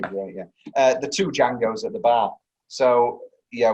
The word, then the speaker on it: Django: He's the original Django, yeah. So Franco Nero, the guy, so when he goes, how do you spell it? He goes, DJ. The D is silent.